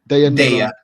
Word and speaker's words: Daya: Is that how you pronounce her name? Daya.